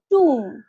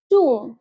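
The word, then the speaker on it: tomb: ইংলিশে কি বলবে টুম লাস্টের বিটা সাইলেন্ট সঠিক উচ্চারণ হবে টুম টুম ঠিক একই রকমভাবে হাতের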